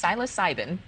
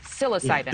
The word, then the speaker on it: psilocybin: with us how silos is it Silo cybin I'm saying it right yes psilocybin is able to psilocybin psilocybin psilocybin psilocybin I would say psilocybin so yeah it's not wrong okay I'm saying it like a Brit um is it correct